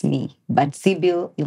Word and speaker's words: Sybil: name introducing yourself to that camera the right pronunciation of your name all right so my name is Cil s y b i l like the you